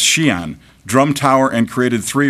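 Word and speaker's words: Xi'an: Chinese it's called it's it's pronounced Shian drum Tower and created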